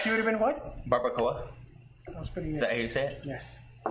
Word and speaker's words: barbacoa: barbacoa.